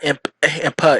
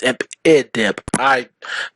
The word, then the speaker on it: Impidimp: It's not Impa, it's Impidimp. Sorry, pronunciations.